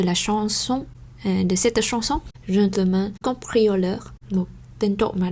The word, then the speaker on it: gentleman: Như vậy thành ra đối với cái từ này thì chúng ta cũng không giữ các cái nguyên tắc phát âm như bình thường, như là không đọc là Jean Le Mont chẳng hạn, không.